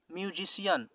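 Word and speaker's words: musician: इसी प्रकार से म्यूजिशियन, म्यूजिशियन, यहाँ भी सी के बाद आई ए आया तो सी का उच्चारण क्या हुआ, तालव्य श का, म्यूजिशियन यानी संगीतकार।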